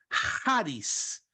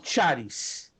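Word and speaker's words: χάρις: Não charis. Lembre-se que esta é a letra I, desenhada como um X no grego, mas a pronúncia dela é Haris.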